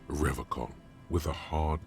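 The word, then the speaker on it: Revachol: piles of soggy logs at his feet he pronounces rivercon with a hard K unlike other people serious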